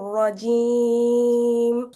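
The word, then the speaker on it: رجيم: আচ্ছা রুফাই সুলতান আপু দেখেন আমার সাথে, আউযু বিল্লাহি মিনাশ শাইতানির রাজিম। আউযু আউযু বিল্লাহি মিনাশ শাইতানির রাজিম। রজিম, রতেও টান হয়ে যায়, টান করা যাবে না, টান দেওয়া যাবে না।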